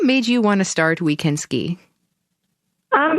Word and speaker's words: OuiCanSki: she's the founder of we can ski program we is spelled like oui like yes we can ski an organization that introduces